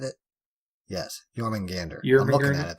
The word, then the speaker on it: Jormungandr: Yes, Jormungandr.